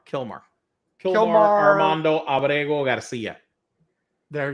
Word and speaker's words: Kilmar: The Elsa the the the guy mistakenly sent to Also Kilmore. Kilmar. Kilmar Armando Ago Garcia. There you go. But I'm going to pronounce it.